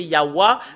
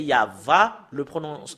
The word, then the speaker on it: Yahvah: Voilà, c'est en langue européenne, le W-A, le fait de le prononcer concernant la vérité, c'est normalement, d'après les Européens, c'est Yahwa, mais si nous revenons à l'hébreu ancien, c'est Yahva, la prononciation.